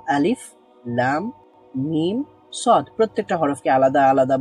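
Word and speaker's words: الم: হবে সেটা আমরা জেনেছি এগুলোকে হরফের নামগুলোই উচ্চারণ করতে হবে আল মাস বলবো না এটা আমরা আমরা বলবো আলিফ লাম মিম সদ প্রত্যেকটা হরফকে আলাদা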